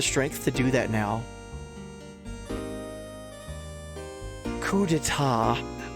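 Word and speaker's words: coup d'état: Coup deta. I like reading it phonetically. Coupat.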